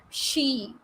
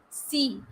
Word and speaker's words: she: mistake in sh words she ship people never pronounce it clearly as she what they pronounce it as c what is the meaning